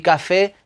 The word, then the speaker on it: café: que tenemos ahí y café lleva tilde con lo cual evidentemente la sílaba tónica es la la última sílaba café vamos a ver las